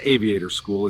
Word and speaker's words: Aviate Our School: Aviate Our School, pronounced Aviator School, is now building our next wave of future mechanics and aviation leaders.